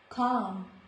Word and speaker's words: calm: Balm, balm, calm, not calm, calm. So in all these words, letter L is silent.